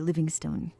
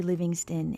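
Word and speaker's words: Livingstone: Livingston. It's spelled like stone, so I always want to say it both ways.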